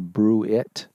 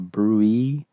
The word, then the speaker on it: bruit: that's called a brewery it's not called a brew it brew it it's a brewee it's the way that's pronounced okay so any upstream beaver dam could